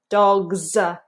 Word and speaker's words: dogs: a little ears on dogs dogs dogs notice that uh uh uh it's not R dogs uh dogs uh hear that that vibrating when we have this s after a voiced speech sound all the rest of